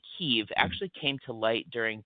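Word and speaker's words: Kyiv: here today um so traditionally speaking we as historians have talked about kiev k iev right the ukrainians have tried to encourage the pronunciation of keev Ky i v um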